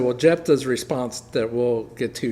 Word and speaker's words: Jephthah: Jephthah, yeah.